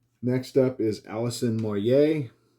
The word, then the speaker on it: Moyet: Next up is Alison Moyer, and that is how you say that. Most people say Moyet. It is Moyer.